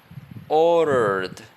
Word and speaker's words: ordered: Used, then finished, then ordered, ordered. ordered. Don't pronounce the D. In ordered.